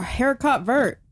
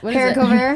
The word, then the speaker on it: haricot vert: I was like, "I've never heard of a haircut vert." Like, and that's not even how you say it. It's a Haricot vert?